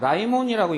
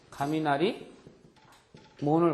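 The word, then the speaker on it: 雷門: 라이몬이라고 읽는데, 이 라이몬이라고 하는 것은 뭐냐면은, 이 라이몬이라는 것은 청천벽력 할 때, 벼락 친다고 할 때, 그거죠? 그래서 가미나리입니다. 가미나리, 몬을 갖다가 그냥 라이몬 또는 가미나리몬 이런 식으로도 읽습니다.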